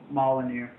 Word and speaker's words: Molyneux: Molinux? Molyneux.